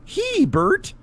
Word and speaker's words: Hebert: a bear and my last name is spelled HB RT so just say he Bert hey B all right